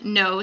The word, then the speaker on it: Noh: No spelled N-O-H, not N-O.